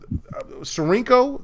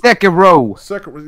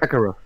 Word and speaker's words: Sekiro: What's going on right here is the fact that Sarinko, I think that's how you pronounce it. Sekiro. Yeah, you are my person that does the Japanese. Sakiro. Yes, Sakiro, whatever, right? Sekiro.